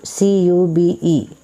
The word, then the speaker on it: cube: sound okay u sound so when the E is silent at the end of the letter it pronounce the letter name but when there is